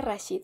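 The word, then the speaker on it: Rasheed: en gabul ya vi se pronuncia rashid el nombre del personaje pero las casan con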